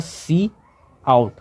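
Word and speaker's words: cout: Pronounce, इसका pronounce होता है सी आउट, सी आउट, सी आउट, जैसे ऐसे आप प्रोनाउंस कर सकते हैं, सी आउट।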